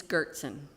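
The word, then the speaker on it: Goertzen: Girtson, spelled with two G's.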